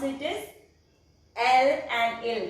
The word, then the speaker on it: ils: We will write it as ils, but we will pronounce it as L and il. The last S won't be pronounced until and unless it is followed by a vowel.